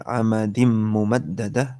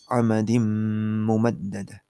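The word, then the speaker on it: عمد ممددة: Tadi contohnya fi amadim mumaddadah. Tanwinnya hilang, masuk ke mim di depannya, kemudian habis masuk didengungkan. Nggak boleh begini, amadim mumaddadah, salah. Karena cuma masuk aja, dengungnya nggak ada. Dia harus amadim mumaddadah.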